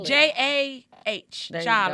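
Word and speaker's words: Jah: Spell jog so That's they know speak- how to spell it. J-A-H.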